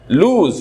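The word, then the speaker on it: lose: এরাবিকে, এটা Z sound, লুজ, don't লুজ year character, don't লুজ money unnecessarily, লুজ, this one ইজ লুজ, এটা long ও sound, এটা Z sound, লুজ, this one ইজ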